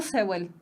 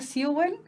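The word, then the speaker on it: Seúl: aparecen las clases suel dicen por ahí se pronunciará sel Oy es toda mi vida he dicho sewel y en Chile toda mi vida he dicho sewel si me dicen que se pronuncia siwel Siento mucha lástima por la Fernanda del pasado Lucia dice profe a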